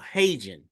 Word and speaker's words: HeyGen: but there's also a AI called Hagen. It's spelled Heygen. And the beauty of Hagen is you can actually create video avatars of yourself, right?